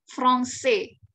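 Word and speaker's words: français: ada tulisan seperti ini dibacanya bukan lagi Prancis Prancis Ya tapi dibacanya frongse ya frongse kemudian gimana orang Prancis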